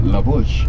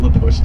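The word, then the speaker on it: La Push: laush the mouth so maybe it was supposed to be laush baby but English speakers heard it oh hear what they call they call it laush let's call it laush too well they were saying it wrong but it's stuck this is called cake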